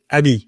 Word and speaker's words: AMI: and we pronounce it Abby because friend there's a lot of French people okay also means friend right in French but that's the same